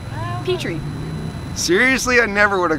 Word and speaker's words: Pitre: So it's like the dish, Pitre.